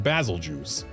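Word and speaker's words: Bazelgeuse: And the pronunciation that's actually correct if you look at the inspiration for its name, Basiljuice. Like if you pronounce it anything other than juice, then you are wrong. Unless you're pronouncing goose, which is also acceptable.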